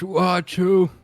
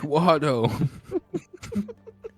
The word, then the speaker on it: Watto: But it's pronounced Watto. You see, my grandson, he took on What's the the family W? name. What? Where's the W in Joseph? That turns it to what? No, it's pronounced Watto. It's gnomish, Douglas.